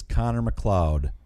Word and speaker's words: Connor MacLeod: Okay, you screwed that up. It's Connor MacLeod of the Clan MacLeod.